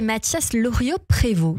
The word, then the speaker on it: Loriot-Prévost: Bonjour à vous deux, Augustin Ledieu et Mathias Loriot-Prévost. C'est bien comme ça que ça se prononce.